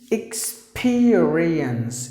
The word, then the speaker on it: experience: one experience so the e pronounced like e like e experience experience experience experience that's how